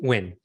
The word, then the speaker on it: Nguyen: So I'm really excited to have Joseph Nguyen. Is that correct pronunciation? Nguyen.